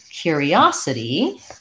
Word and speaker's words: curiosity: little bit in between when we change to curiosity uh we have quite a bit of a change in American English our syllable stress changes we no longer have first syllable stress and our vowels change so in curiosity in American English we have we go to more of the ooh sound with curiosity rather than just the ER sound like we had in